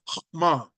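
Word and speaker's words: חָכְמָה: It's pronounced hokmah.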